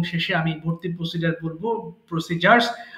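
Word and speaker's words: procedure: আমি একটু আপনাদের কোর্স মডিউল সম্পর্কে বলবো এবং শেষে আমি ভর্তির প্রসিজার বলবো, প্রসিজার্স। আমরা যদি উচ্চারণ করি প্রসিডিউর, বা সঠিক উচ্চারণ হবে প্রসিজার। হ্যাঁ, প্রসিজার।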